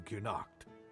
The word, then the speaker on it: Cuanacht: And you'd have to either leave or die here in Cuanacht. Now he's pronouncing it with a full U.